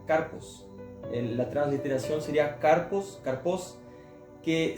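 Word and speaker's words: καρπός: Justamente la palabra frutos que él mencionaba, ella en el original significa, se pronuncia carpos.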